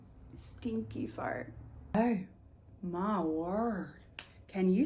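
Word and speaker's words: Stinqué-Pharrte: a lot of letters how exactly is that pronounced stinky fart oh my word can you spell that again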